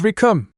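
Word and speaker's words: Recoome: My name is Rikum. It rhymes with doom.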